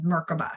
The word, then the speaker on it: merkavah: begin to build our merkavah right which is the Hebrew version of merkaba some people call it merkaba or merkabah I like to pronounce it the Hebrew name which is merkava but nonetheless it is